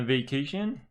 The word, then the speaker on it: vacation: will give you uh vacation it says that vacation is a noun and it's got their it stress on the second syllable see this little Mark